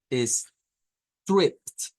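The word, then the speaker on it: striped: Entonces significa que esto se debe pronunciar como stripped, stripped. Stripped con la T al final.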